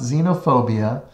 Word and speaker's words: xenophobia: on our test the first is xenophobia it's pronounced xenophobia xenophobia is a fear of those who are